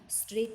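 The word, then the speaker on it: straight: स्ट्रेट में जी H silent है, सो जी एच के नीचे अंडरलाइन करनी है।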